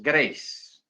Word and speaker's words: Grace: graas Así se escribe Generalmente gra pero la pronunciación en inglés es Grace porque así funciona el inglés yo por eso